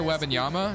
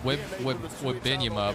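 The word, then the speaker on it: Wembanyama: name right now right victor webinama that's how you say it i always said whip with benjamin but i think it's webbing yama right i think i finally said his name correctly go to 30.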